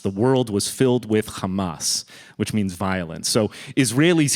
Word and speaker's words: Hamas: uh Hamas and you're hearing lots of different pronunciations I've noticed on the news um in Arabic it's Hamas Hamas the a sound is is common in